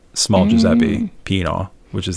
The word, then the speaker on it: Giuseppe: Well, Fahmida, we're sort of in the same boat from different parts of the world, because I don't pronounce my name correctly. It's not Giuseppe. It's really? Giuseppe.